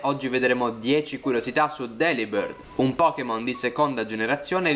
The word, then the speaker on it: Delibird: Pronunciando Delibird con la stessa inflessione di delivered, che significa spedito in inglese, si ottiene un suono molto simile, rendendo la B e la V le uniche variazioni tra le due parole.